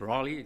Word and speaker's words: Raleigh: in the united states it's not rally it's raleigh so if you'll forgive